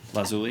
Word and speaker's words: lazuli: Lazuli.